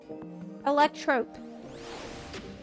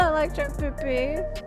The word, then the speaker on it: Electrope: Zepla, you're saying it wrong. Electrope. It's electrope. It's no PP. I'm saying it wrong, apparently. This shop sells food. It's not electro PP.